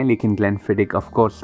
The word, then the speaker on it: Glenfiddich: Pronunciation में ग्लेनफिडिक बोलता हूँ। Apparently it is closer to the original pronunciation. कुछ लोग ग्लेनफिडिच भी बोलते हैं, जो मुझे बोला गया है कि शायद करेक्ट नहीं है।